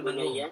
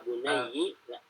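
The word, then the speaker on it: بُنَيَّ: Mim jadi yang penting ya itu bunayya yang penting itu dengan fathah. Maka selain kalau yang Hafs saya tahu membacanya dengan kasrah. Ya bunayyi Ya bunayyi la Jadi tusyrik tidak billah.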